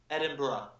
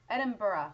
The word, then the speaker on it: Edinburgh: So how do I know how to pronounce that word, You're saying Edinburgh. Edinburgh. Edinburgh. Borough, but borough. Borough.